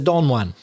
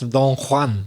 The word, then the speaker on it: Don Juan: that expression in English notice my pronunciation I'm going to say in English he's a DA onean cuz that's how we say it but of course it's Donan isn't it Donan Donan that famous literary character